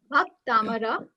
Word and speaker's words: Bhaktamar: I want your lips, like you should pronounce it with me. Bhaktamar.